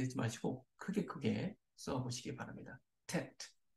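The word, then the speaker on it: טית: 그래서 tet, tet, t 발음이죠.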